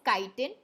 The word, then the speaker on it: chitin: now this word here please don't pronounce it as chai is chitin it is called as chitin and the c t